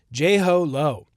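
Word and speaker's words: Jho Low: It's like JLo, but but ho. Jho Lo.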